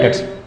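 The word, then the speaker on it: debts: तो आप लिखोगे बैड डेट्स, बी साइलेंट होता है इसलिए डेट्स बोलते हैं इसे, डेब्ट्स नहीं बोलते, डेट्स।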